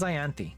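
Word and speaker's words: Ianthe: She told me how to pronounce her name. Her name is Ayanti.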